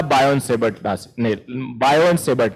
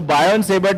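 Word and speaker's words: Biot–Savart: तो जो ओरेस्टेड ने एक्सपेरिमेंट किया और उसके बाद वो काम पूरा आगे का काम संभाला बायोन-सेवर्ट ने। टी साइलेंट होता है। तो बायोन सेबर्ट ने क्या किया, इन्होंने मैग्नीट्यूड निकालने पे काम किया, हाउ टू गेट the value of magnetic field.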